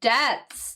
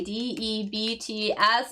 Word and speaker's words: debt: have to pay your debts. Exactly. D E Bts. And notice how I'm pronouncing that as well. Cuz I do know that there is a B there, but we don't actually pronounce the B.